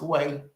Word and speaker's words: Hue: Her name is spelled Hue when you see it on here, but it's pronounced Way.